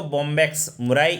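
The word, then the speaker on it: Bombyx mori: MURRI, तो याद रखें बॉम्बैक्स मुरी भी बोलो या मुराई भी आप लोग कह सकते हो।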